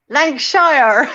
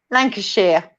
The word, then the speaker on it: Lancashire: Okay, sorry. We say Shire. Lancashire. You always pronounce the shires. Yes, we like it's a shire horse. Like it's a shire horse. Lancashire.